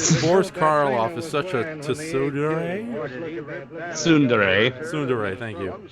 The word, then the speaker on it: tsundere: Boris Karloff is such a tsundere. Tsundere, thank you. The T is silent. Not really. It's like Subaraya. You have to put the T and then quickly go into the S like The T is silent, says me.